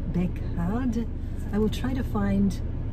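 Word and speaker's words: Baekgaard: It's spelled B-A-E-K-G-A-A-R-D, Bekard.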